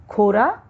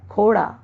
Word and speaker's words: खोड़ा: जैसे खोरा, इसका शुद्ध रूप है खोड़ा।